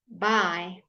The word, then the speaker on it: buy: Buy, and buy. All pronounced exactly the same.